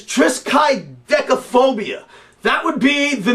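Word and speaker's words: triskaidekaphobia: have I think the the proper pronunciation is trisk decophobia that would be the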